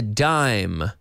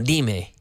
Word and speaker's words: dime: A 10-cent coin is a dime. Se escribe como dime. Dime. No, dime. Dime.